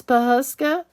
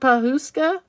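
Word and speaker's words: Pawhuska: America I don't know Becky says I've been saying it wrong it's pahaska it's not pahuska thank you Becky well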